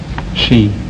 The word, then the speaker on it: ski: one is it pronounced ski or she ski in the united states and in europe she she why the difference